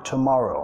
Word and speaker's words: tomorrow: Acentuación de la palabra, primera sílaba reducida, segunda acentuada, más larga, más fuerte, más arriba en entonación y la tercera reducida.